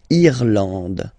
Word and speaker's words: Irlande: Irlande. Okay, A-N, en, D, and final E, not pronounced.